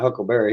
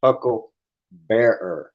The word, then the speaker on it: huckleberry: It's not huckleberry. He mispronounced that shit. It's hucklebearer.